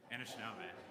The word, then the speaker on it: Anishinaabe: Nations and I apologize grae I didn't check pronunciation first so I'll get you to say the next word Anna shab Anna shab was that close enough uh from the great